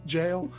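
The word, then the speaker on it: gaol: to the actual uh jail the the g-a-o-l jail yeah yeah that's how he used to spell it um very good so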